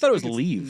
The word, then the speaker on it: Liev: Some people are putting a little emphasis like L-E-E and then E-V. Eve. But it's Leave. Leave Schreiber. But it's spelled L-I-E-V. Yes. And other people are saying just like Kiev, but with an L instead of the K. Leave.